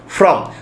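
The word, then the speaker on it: form: যখন পরীক্ষার কোন ফর্ম ফিলাপ করি আমরা সেটাকেও উচ্চারণ করি এফ আর ও এম ফ্রম যে স্যার আমাকে একটা পরীক্ষার ফ্রম দেবেন বা স্যার আমাকে একটা অমুক জায়গায় ফ্রম দেবেন একচুয়ালি ফ্রম নয় ওটা হচ্ছে ফর্ম এফ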